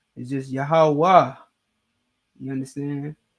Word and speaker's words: Yahweh: Like Yahweh is just Yahweh. You understand? There's no ha sound at the end. It's just Yahweh.